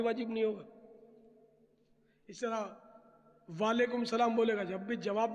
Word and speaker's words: وعلیکم السلام: اس طرح وعلیکم السلام بولے گا جب بھی جواب بھی ادا نہیں ہوگا، واجب کا تاریخ بنے گا، یہ تو محمل سا جملہ ہو گیا.